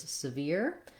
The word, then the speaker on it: sever: Then when we get to sever, it also has first syllable stress. Letter E in sever has the red tent vowel.